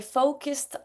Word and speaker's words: focused: Number 18, I focused on. I focused on. Ça, c'est la prononciation du petit t. Pour celles qui connaissent les quatre phonétiques du ED, c'est le petit t.